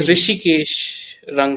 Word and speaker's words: Rishikesh: pronouncing your name uh it is rishikesh oh okay okay so that's like h is silent yeah hey awesome man